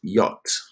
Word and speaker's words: yacht: And the another word which you need to know for the story is this word, which is pronounced yacht. Yacht. Okay, it's a strange spelling, right?